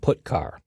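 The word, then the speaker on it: putchar: i o functions are git car and put car that's how I pronounce them git car fetches a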